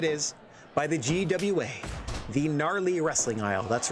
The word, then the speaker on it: Gnarly: Presented as it is by the GWA, the Gnarly Wrestling Aisle. That's right, the only fictional pro wrestling promotion with 3 silent letters making up its acronym.